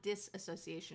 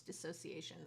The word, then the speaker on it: dissociation: It's not disassociation, it's dissociation.